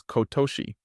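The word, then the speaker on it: 今年: about and when you combine EMA and nen it's read as kotoshi which translates to current year or this year sorry earlier I said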